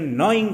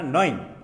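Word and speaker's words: gnawing: Boring pain বলছেন নয়িং পেন, দেখতে জের উচ্চারণ হয় না, নয়িং।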